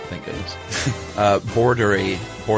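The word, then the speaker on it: boerderij: And now the word for farm is uh pronounced he gave me an English pronunciation, thank goodness. Uh bordery border or bordery.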